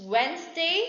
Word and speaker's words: Wednesday: all these words it's wednesday so the silent letter is d condemn n is coming